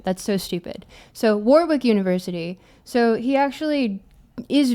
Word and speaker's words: Warwick: more uh it's pronounced Warwick. I pronounce it Warwick because I refuse to acknowledge that the UK cannot remember to pronounce the extra W in the word. That's so stupid. So, Warwick University.